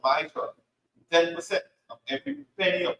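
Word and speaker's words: מַעֲשֵׂר: Means 10th in the Hebrew and is pronounced Ma'asher.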